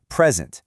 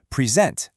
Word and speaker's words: present: For the nouns, the stress is up front. Record, present, object. And for the verbs, it moves to the back. Record, present, object.